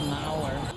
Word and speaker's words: Mower: This is Mower. It's spelled like my lawnmower, so I'm going with mower.